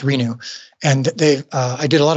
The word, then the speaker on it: RENU: R-E-N-U is the name of their company, and they're great. R-E-N-U? Yeah. Okay. They're pronounced Renew.